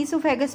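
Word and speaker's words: oesophagus: ईसोफेगस भी बोलते हैं, और उसमें साइलेंट है, ईसो बोलेंगे, ईसोफेगस बोलेंगे।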